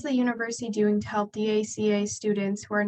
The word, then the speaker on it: DACA: I just wanted, I heard ACA students. I wanted to, DACA.